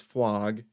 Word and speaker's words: Fwog: And I want to tell you that Frog, we bought Frog coin, and it's not Frog, it's Fwog, because it's spelled with a W.